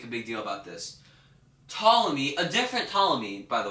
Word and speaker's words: Ptolemy: You would just spell it how you think it was, but then you had a P. I don't know why. No one says Ptolemy. You just say Ptolemy.